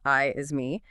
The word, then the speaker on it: IASME: And crucially, we'll be explaining how your organization can leverage the uh the proven IASME cyber assurance standard. You might hear it pronounced I is me as a really practical, efficient roadmap to get that code implemented.